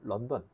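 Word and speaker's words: London: 참고로 여기이 앞에 있는 런던 뭐 발음은 론돈이라고도 하는데요. 사람 이름입니다.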